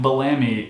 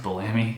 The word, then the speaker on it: Bellamy: Per Wikipedia, frontman Matt Bellamy, is it pronounced Bellamy, said it was spurred by Warner's request for a greatest hits album.